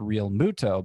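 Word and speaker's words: Realmuto: to replace jt real muto i've always called real muto but then i heard him say his name recently and he pronounces it real muto so i guess i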